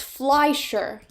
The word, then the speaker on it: Fleischer: Oh, wait, I looked up, it's pronounced Fleischer. Oh, okay, yeah, it is Fleischer.